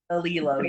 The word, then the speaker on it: Elilo: Elilo? Is that how you pronounce it? Alilo, yes.